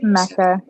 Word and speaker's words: Mecca: Let's go to Mecca or Mika or Mecca. I don't know how to pronounce that. I apologize. It's Mecca. Mecca.